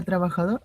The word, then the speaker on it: trabajador: Claro, la palabra trabajador es aguda. ¿Por qué? Ya, porque la sílaba más fuerte es la última, dor, ¿no?